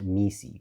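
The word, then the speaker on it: MECE: This is what the consulting firm McKenzie calls me, pronounced MI, which stands for mutually exclusive and collectively exhaustive.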